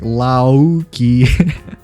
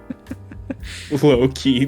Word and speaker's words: Loki: so I was like Lauki. loud. Yeah, I can't wait to watch the new Marvel show. Loki. Loki. Low-key, but it's spelled Low-key. Lowke.